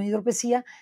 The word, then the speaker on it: hidropesía: el caso de este de este enfermo con hidropesia o hidropesía hidropesía se pronuncia con hidropesía que pues tenía que esperar más porque se